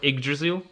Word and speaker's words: Yggdrasil: The world Yggdrasil. That's the one. Tree. Yeah, the world tree. Yeah, when you access that, the particle effects there as well. Yggdrasil. It's Yggdrasil.